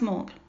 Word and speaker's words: Mark: Mind you, the big Tesco on Clough Street attracts your typical incomprehensible Stoke scallies with names like Mark, pronounced Mork, yes, really, and Morton.